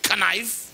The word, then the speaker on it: knife: do you spell knife how do you say knife you don't say knife you say knife why they put the k there for what what purpose does it have to have a k and knife then let